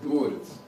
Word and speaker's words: дворец: Слово дворец, ударение сначала падало на корень, дворец.